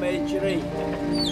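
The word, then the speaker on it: Mechrey: It's called Mechri. How do you spell that?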